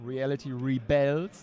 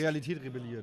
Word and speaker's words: Reality Rebels: Das ist übrigens, die Betonung ist so, Reality Rebels. Die nicht, Realität rebelliert.